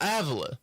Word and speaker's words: Avila: What's the proper way to pronounce it? Avila.